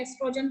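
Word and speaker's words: oestrogen: ठीक बेटे, तो कईयों में एस्ट्रोजन के स्पेलिंग में ESTROGEN के आगे O लगाया होता है, तो कोई बात नहीं, O साइलेंट है, एस्ट्रोजन पढ़ेंगे उसको। And progesterone that hormone that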